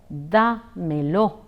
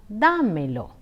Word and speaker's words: dámelo: In the expression damelo, the accent falls on a of da. Hence, it is pronounced as dámelo, dámelo.